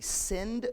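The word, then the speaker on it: Sindh: this area there was the send river s-i-n-d-h and in the time of the ancient persians so like 500 ish bc um when persia was the the world power they couldn't pronounce send and so they they called it the hind river and so people in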